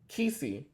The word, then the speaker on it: Quisi: How you say his name? Kisi. Quisi.